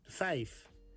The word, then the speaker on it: vijf: 5 is vijf. The Dutch vijf sounds kinda similar like the English five.